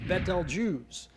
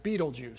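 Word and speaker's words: Betelgeuse: armpit of the central one and is correctly pronounced betal juice but most people pronounce it Beetle Juice so they can remember it because if you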